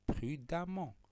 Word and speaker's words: prudemment: va avoir pris damman je ne lis pas rudement ça se lit prudemment même si on est ici ça se prononce prudemment alors on va voir